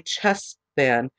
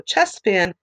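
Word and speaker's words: Cheshvan: Now, this is the Hebrew calendar, so the month would be Chesvan, and that is spelled C-H-E-S-H-V-A-N.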